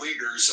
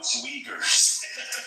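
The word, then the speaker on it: Uyghur: We don't have a problem with the weaguers over in uh in China. That's weagers.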